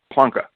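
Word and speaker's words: Planck: this guy it was Max plun who act actually pronounces his name plunka and I know that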